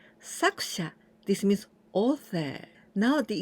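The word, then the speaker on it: 作者: And here we pronounce saku, sakusha, sakusha.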